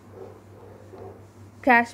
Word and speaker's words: cache: Cache memory. CACHE here is pronounced as cache.